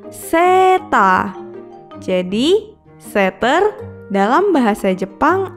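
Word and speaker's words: セーター: Ditulis dengan huruf katakana jadi se, strip, ta, strip. Seta.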